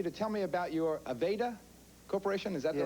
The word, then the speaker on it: Aveda: i want you to tell me about your aveda corporation is that the right pronunciation yes the first company in this country